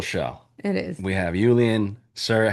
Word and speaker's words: Iulian: Is how you pronounce the first name? Julian.